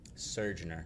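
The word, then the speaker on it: Surgeoner: Surgener. Would you like me to spell that?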